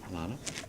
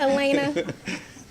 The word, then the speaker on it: Elena: How you saying it? Alana? Alana. How you say it? It's Elena. Why did you do She's gonna come that? up. Elena.